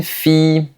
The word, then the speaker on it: fille: Généralement, les mots qui contiennent i l l se prononcent i. Par exemple, une fille, une famille, Guillaume, et cetera. C'est comme la I mais qu'on prononce légèrement plus longtemps.